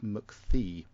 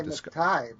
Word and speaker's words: McTighe: written the series with Pete McThee, or Thigh, depending on how you want to pronounce it. I would say McTighe.